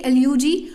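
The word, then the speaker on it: elegy: एलेजी को वैसे basically एल्यूजी, अगर सही प्रोनाउंसिएशन है तो एल्यूजी है, बट इसे कॉमन एलेजी बोलते हैं, तो हम इसलिए एलेजी ही बोलेंगे इसको, अदरवाइज आपको कन्फ्यूजन क्रिएट होगा।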